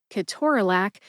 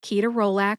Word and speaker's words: ketorolac: I propose that the United States Adopted Names Council add Ke-TOR-a-LAC to the list of official pronunciations in the USP Dictionary online so that we have more than one official pronunciation for Ke-TOR-a-LAC, or just replace ketorolac with Ke-TOR-a-LAC.